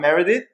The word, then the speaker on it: Meredith: First of all, I always ask this question because I know I pronounce everyone's name wrongly. So, Dr. Meredith, am I correct?